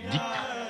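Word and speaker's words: ذكر: en chœur, en particulier la pratique collective du dhikr que les Afghans prononcent zikr à la façon persane.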